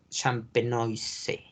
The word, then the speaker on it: Champenoise: Se escribe Champenoise. Champenois.